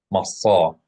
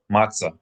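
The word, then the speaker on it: מצה: Masa. Unleavened bread is masa, masa. It's a pharyngalized emphatic S sound. In popular lingo, matzah, matzah. Proper Hebrew, classical Hebrew, masa, masa, masa.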